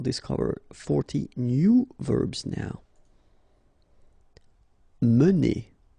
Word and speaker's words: mener: mener. Okay, so remember when you get this like that without any accent, so it should be pronounced okay, so it goes like mener.